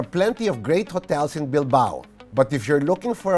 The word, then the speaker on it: Bilbao: Bilbao rhymes with wow.